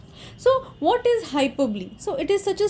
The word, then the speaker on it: hyperbole: started so hyperbole so the pronunciation is hyperbole and not hyperbole so it has three